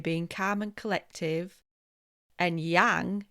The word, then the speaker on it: yang: And yang is like bang, like pounding or getting into action, being active, being fiery.